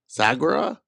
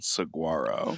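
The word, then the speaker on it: Saguaro: Sagura. Sigua. Sagra sugu. Most people pronounce it saguarro.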